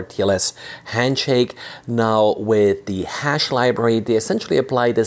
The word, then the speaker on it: HASSH: It's the hash library, I guess is how you pronounce it.